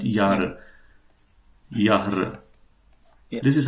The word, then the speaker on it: Jahre: Yahr. Yeah. This is how it is pronounced.